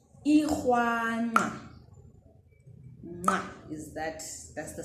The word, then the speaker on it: nqa: pronounce the Ndebele click nga. So this is the N and the Q brought together. Let's do this together. Nga, nge, ngi, ngo, ngu. All right. So yeah, you do it with your tongue, this particular sound.